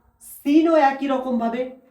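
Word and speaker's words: سين: সিনও একই রকম ভাবে দুটো দাঁত চাপার পরে জিভটা এসে ঝাটকা দেবে।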